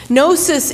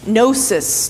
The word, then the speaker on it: gnosis: letter is preaching against gnosis is the greek word for knowledge gnosis to know in greek it's that silent g in english the silent k but in john's time